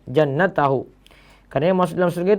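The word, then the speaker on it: جَنَّتَهُ: Bukan jantahu tadi saya baca, jannatahu.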